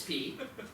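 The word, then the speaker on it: 屁: the same word this p is pronounced with a fourth tone P it's a falling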